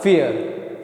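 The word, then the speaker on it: vier: Rule याद रखो तो जब ये किसी के बीच में आएगा ठीक है तो इ जैसी आवाज आएगी अब ये फी हो फाऊ की दरवाजे से फियर कैसी आवाज आएगी?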